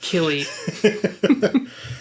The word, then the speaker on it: Cillian: one silly silly butts it's pronounced killy see i can't get behind that because of killian's irish red is with the k his name is silly murphy with a c right or is it